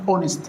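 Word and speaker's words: honest: طيب انطق الكلمه دي كده، ما تقولش هونست، لانك لو قلت هونست هتاخد في الامتحان وهي اصلا غلط، ده اسمها اونست، الاو هي اللي منطوقه.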